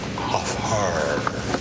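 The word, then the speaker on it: Hfuhruhurr: Furrier, it's off hard. I'm sorry. That's all right. A lot of people mispronounce it, but it sounds just the way it's spelled.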